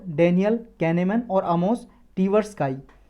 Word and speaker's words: Tversky: याद रख सकते हो डेनियल कैनेमैन और आमोस टीवर्सकाई।